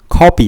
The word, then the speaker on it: 神戸: Kobe is for basketball; the pronunciation of Kobe in Japanese is "KOBE (こうべ)."